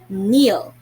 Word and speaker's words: kneel: if you have noticed not all letters were sounded k was silent it wasn't red at all so it was just read as n e e l neil right it was spread